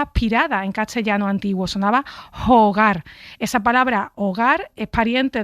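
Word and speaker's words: hygge: con mucha necesidad que en la palabra xix escrita con y y con dos es aparecer se pronuncia jugar que es un concepto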